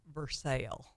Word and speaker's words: Versailles: and we were uh initiated as to the pronunciation of versailes in Kentucky oh that's right Bruce Richardson said yeah they call it versale yes so yeah and